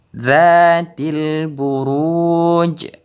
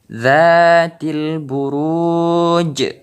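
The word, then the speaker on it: ذات البروج: Contoh selanjutnya Zatil buruj. Zatil buruj. Jadi huruf jim ini terdengar pantulannya lebih besar karena kita wakaf dalam membacanya.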